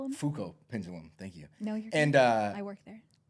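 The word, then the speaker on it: Foucault: Fuko pendulum. Fuko pendulum.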